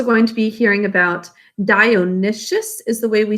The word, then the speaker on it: Dionysius: right so damon that's the way we would pronounce it in pythius and we're also going to be hearing about dionysius is the way we say his name dionysius who is uh the tyrant of syracuse and